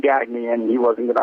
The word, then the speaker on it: Gagne: The correct pronunciation is Gagne. It's sort of, morphed into Gagne, got Americanized.